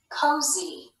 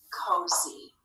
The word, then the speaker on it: cozy: one together co z cozy do you hear the e sound that y is making in that final syllable so in this word